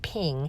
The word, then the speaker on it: PNG: You say that as a ping, you pronounce that ping, and this is going to save it with the transparent background.